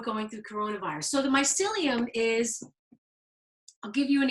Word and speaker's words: mycelium: So the mycelium is, I'll give you an example.